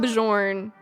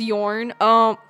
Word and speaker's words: Bjorn: I call him Bajorn. Is Yorn.